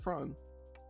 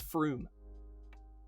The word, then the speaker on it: Frome: How do you pronounce it? Because it's not Frome. And they'll get real annoyed at you if you pronounce it Frome. It's Froome. Is there a U? Is there two O's? No, there's an O and an E, but no, it's Froome.